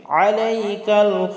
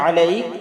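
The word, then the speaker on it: عليك: এই যে আলাইক, এখানে আইন আমরা অনেকে হামজা বলি আলাইকা, আসলে আলাইকা হবে না, আলাইকা। আইন হলকের মধ্যখান থেকে আমরা উচ্চারণ করে বলবো ওয়া নুসনি আলাইকাল খায়র।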